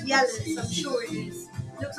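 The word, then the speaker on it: Jelle's: I know it's pronounced. I know it's got a G, but it's Yella's.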